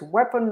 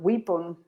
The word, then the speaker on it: weapon: Remember, it's weapon, not weapon.